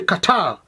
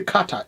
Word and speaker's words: Qatar: No, we say Qatar. So how the American they pronounce for them is okay, but for me, I don't say Qatar, it's Qatar, Kabul.